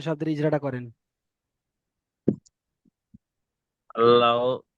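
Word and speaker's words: الله: এখানে আল্লাহ শব্দের ইজরাটা করেন। আল্লাহ, আল্লাহ শব্দের তাসদীরের ডান দিকে যাবার এসেছে, তাই আল্লাহর লামকে আল্লাহর নামকে এই পুর করে পড়তে হবে।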